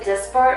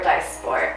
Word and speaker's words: Dysport: So do you pronounce it Dysport or Dysport?